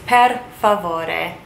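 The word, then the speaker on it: per favore: help me fed foreboding please in Italian is pad full order please next we are going to do yes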